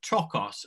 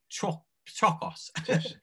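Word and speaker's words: πτωχός: But they use the same word, and it's trochos. Again, I'm not pronouncing it correctly, but it's P-T-O-C-H-O-S. So trochos. But I've heard some people, and I don't know if this is true.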